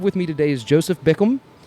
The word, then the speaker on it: Bickham: So the guy I have with me today is Joseph Bickham. Did I say it right? That's it. See, Bickham. I got it. I nailed it.